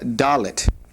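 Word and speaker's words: דלת: The fourth letter of the Hebrew alphabet is what's called dalit. Dalit. This has a definite d sound and as you can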